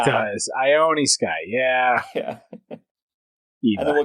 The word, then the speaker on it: Ione Sky: See, I like how you keep calling her Lone Sky, but it's I. It's a capital I. It looks like an L. Ione Sky. It does. Ione Sky.